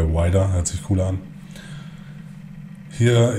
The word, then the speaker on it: Weider: In Amerika wird da eigentlich Wider ausgesprochen, aber wir bleiben lieber bei Wider.